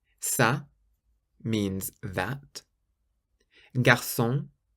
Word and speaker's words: garçon: Garçon. Garçon means boy, garçon, so it's a S sound.